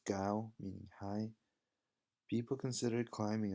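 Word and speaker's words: 糕: with nuts between them since the cake and Chinese is pronounced as Gao meaning high people considered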